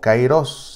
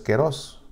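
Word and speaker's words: καιρός: palabra se dice kairos, que pues en español se suele pronunciar como kairos, aunque lo correcto es kairos. Alfa con iota suena como kairos, pero bueno, el kairos.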